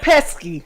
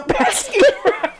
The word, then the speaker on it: Pesci: Joe Pesci. How Yeah. do you pronounce his name?